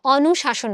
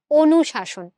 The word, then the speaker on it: অনুশাসন: দেখো আমরা কিন্তু অনুশাসন বলি না। আমরা কি বলি? অনুশাসন। অনু না অনু ও।